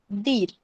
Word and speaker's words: दीर: Okay, दीर कैसे pronounce करेंगे? DEER, दीर.